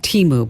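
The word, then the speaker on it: Temu: it does it's and it's it's called It's pronounced Teemu by the way oh okay that's all right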